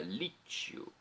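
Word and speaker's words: Liccio: de Novembro Beato João Lício ou lítio pronúncia italiana lítio foi Presbítero ou seja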